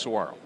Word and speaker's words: Saguaro: Saguaro? Saguaro. Is that how it's pronounced? Saguaro.